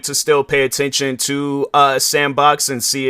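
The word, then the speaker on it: s&box: That's what people have been calling it, but it's a new game called Sandbox. So how they spell it is S, the and emblem or symbol, and then box.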